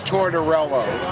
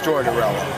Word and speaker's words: Torella: name again uh it's in English it's Torell in Italian it's t but it's torella and we have the